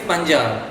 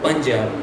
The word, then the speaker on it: Punjab: And tiga is Punjab. Panjam. Punjab. Punjab. Oh, Punjab. Punjab. Punjab.